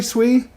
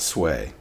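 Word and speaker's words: Sui: pronounce um names swee is it swee or sway gosh i pronoun i mispronounce things sometimes but the effort is important it is pronounced swee not sway how about that um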